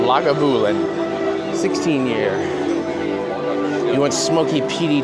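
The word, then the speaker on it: Lagavulin: It is spelled like it sounds, it is L A G A B U L I N Labulin 16-year.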